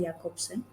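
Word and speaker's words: Jakobson: pronounced as Jacobson.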